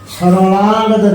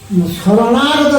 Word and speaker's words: শরণাগত: উনি উচ্চারণ করছেন সরলাগত দীনার্ত পরিত্রাণ পরায়ণে সর্বশান্তি হরে দেবী নারায়ণী নমস্তুতে। আচ্ছা, উচ্চারণটা এই যে আমাদের পুরো ব্রাহ্মণ বাড়িয়ে আছে, তার আসল এটা ভুল আর ঠিক এটা কি দর্শকদের বলবেন? আচ্ছা, এটা হচ্ছে কি শরণাগত দীনার্থ পরিশ্রম পরায়ণে সর্বশান্তি হরে দেবী নারায়ণী নমস্তে।